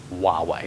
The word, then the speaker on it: Huawei: it's pronounced Huawei.